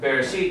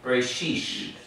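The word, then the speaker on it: בראשית: an S sound so instead of saying bereshit they say they'll even give this a quicker read for that Shiva there that short e sound and they're going to say bray bray sheesh ray sheesh so if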